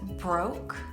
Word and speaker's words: broke: word is pronounced broke you don't say the e on the end that is why it